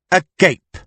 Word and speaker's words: agape: "A gape." "You mean," said Joanna Luz, "agape, 3 syllables meaning peace and love?